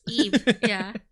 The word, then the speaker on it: Ib: me of eeb yeah eeb because her name is supposed to rhyme with eve yeah that was a